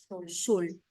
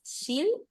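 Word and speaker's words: שול: cambiar la vocal pero siempre se va a escribir shul Aunque pronunciemos digamos shil la palabra se escribe así como está ahul shul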